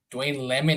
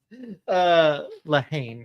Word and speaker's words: Lehane: That's a shameless plug to Dwayne Lemon, I think that name was. Lehane, I believe is how it's pronounced.